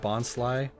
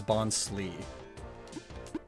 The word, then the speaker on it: Bonsly: I love that in the 4Kids dub they pronounced Bonsly the Sly Bonsai as Bonslee.